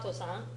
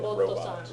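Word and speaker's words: ロボット: Okay, Paul-san, ロボットさんは Robato-san, ロボ Robato-san, not Like Roboto-san. robot. He's not a robot. I thought it was robot for sure. Robato-san.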